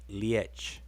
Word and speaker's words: liech: And it's pronounced liech. Liech. It's spelled Liech. That's the visible form in writing. And the audible form is liech.